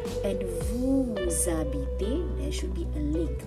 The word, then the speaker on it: habite: Il habite où? H is silent, remember?